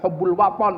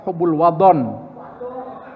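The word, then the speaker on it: حب الوطن: Jadi hubbul wathon minal. Kalau Pak Sastro sempat ngajarin sama saya, Pak Dekan. Salah bacanya thnya diganti dod. Jadi bukan hubbul wathon, tapi hubbul wadon.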